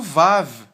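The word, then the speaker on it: ו: apenas com um traço ele é transliterado como um w na nossa let na nossa língua não é e ele possui o som de v muitas vezes de vave não é assim que muitas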